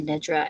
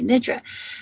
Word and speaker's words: Nidra: You can see here with this N and the short I sound, it's often pronounced Yoga Nidra. As I can understand it, it's with the short I sound, it's Nidra.